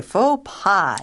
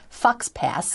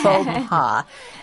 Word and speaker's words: faux pas: Okay, faux pas, not fox pass, but faux pas. F-A-U-X is actually pronounced faux, and P-A-S has a silent S.